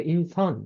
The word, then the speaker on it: 인선: 어떤 친구는 인순이라고 부르는 애도 있었고, 아니야, 인순 아니고 인선.